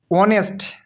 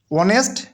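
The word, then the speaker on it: honest: কিন্তু অনেস্ট অনেস্ট ম্যান। অনেস্ট। এই উচ্চারণ এই উচ্চারণ কি হ এর মত হয়?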